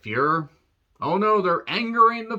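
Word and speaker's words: Feur: her character Mary uh it's f-e-u-r but they kind of say it like fear oh no their angering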